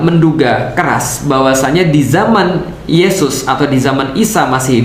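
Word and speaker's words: ܝܫܘܥ: Jadi kalau misalnya di dalam Katolik pernah dulu saya diajarkan, Yesus itu bahasa Ibraninya adalah Yesua, Yesua. Jadi Yesua itu ya bahasa Ibrani ya. Kalau dalam bahasa Aramaik, bahasa Aram itu bacanya Yesu.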